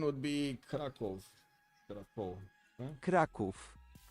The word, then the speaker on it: Kraków: I guess that's actually easier to pronounce. And the other one would be Krakow. Krakow. Huh? Kraków. Kraków.